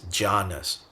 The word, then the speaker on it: jhanas: And in that context, shamatha is closely associated with what's pronounced as jhanas in Pali, which is dhyana in Sanskrit.